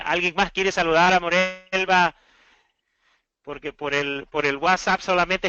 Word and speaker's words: Morelva: ¿Estamos pronunciando bien tu nombre, Morelva? Sí, Morelva. Morelva, ok.